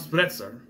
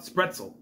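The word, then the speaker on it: Spretzle: Jason comes in, and then he has a sword duel with Count Spretzer. And, Spretzel. I'm saying it wrong. With Count Spretzel.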